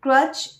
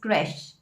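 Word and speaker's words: crèche: again is a very confusing word because the pronunciation does not go with the spelling. People call it creche or creche, a place where we keep our babies for daycare. But the correct pronunciation is creche.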